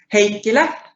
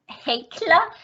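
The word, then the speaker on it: Heikkilä: Have I pronounced it properly? Yes. Yes. How do you say it? Heikkila. Heikkila.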